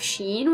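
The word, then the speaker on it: شين: seen as a shape, of course, which is sheen, and this sh is just like in the word shine, sh. So now we have sheen, which is similar to seen in shape, like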